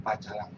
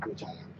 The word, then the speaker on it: pecalang: Dari kata tulisan itu sebenarnya kan bukan bagian pacalang gitu ya. Jadi pacalang, bacanya pecalang.